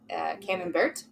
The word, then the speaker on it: Camembert: Camembert?